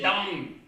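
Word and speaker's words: Dão: Dao. Les vins de Dao, prononcés Dang, proviennent du centre de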